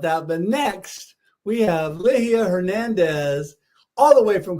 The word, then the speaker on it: Ligia: speaking of making mistakes, the first time I pronounced your name around my beautiful wife, who is really immersed in the school she's in with the Hispanic culture. And I said, Ligia. And she's like, honey, no, that's not how you pronounce it. No. That's not how you pronounce it. So I'm really working hard to say Ligia and say it correctly.